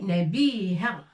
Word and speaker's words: نبيهة: نا avec نقطة فوق الحرف. نا et avec فتحة on prononce نا. باء. بي. Une fouille هنا pour dire بي. نبيهة. ها avec فتحة ça se prononce ها.